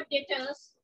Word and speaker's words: debtors: And then I have डेटर्स, B silent रहता है, don't call it डेटर्स.